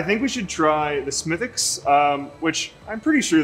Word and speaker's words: Smithwick's: grandmother would order a smithx for the wi lad and uh so that's where I got my pronunciation W silent apparently from this story bu